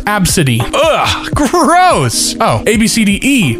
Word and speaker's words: ABCD: ABCD pronounced Absidy.